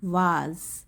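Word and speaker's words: vase: एक, अगर आप ब्रिटिश में जाएंगे तो इसको वास बोलेंगे, वाज, ज की साउंड आती है, वाज।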